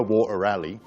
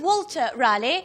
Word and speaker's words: Walter Raleigh: myself as dashing Explorer water ally you cleverly noticed that with my West country accent I don't pronounce my l's properly so instead of Walter Raleigh he became water Riley water ally expired so